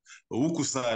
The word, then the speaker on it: UKUSA: la voiture française Laguna c'est un U mais on prononce ou ou et puis voilà c'est lagaguna donc Uka et en kikongo le S se dit S même entre deux voyeles c'est s ce n'est pas comme en français où on dit après